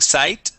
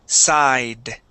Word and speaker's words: side: Okay, give me a D sound there. You pronounce the T, saying sight. Okay, it is side.